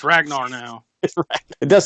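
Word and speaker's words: Ragner: The funny thing is, too, is like Ragnar is spelled R-A-G-N-E-R, which seems to me it's read Ragnar, but they clearly call him Ragnar throughout the entire movie, so whatever.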